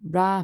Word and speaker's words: Ra: that on pause um Rah pronounced Rah or Reay was the god of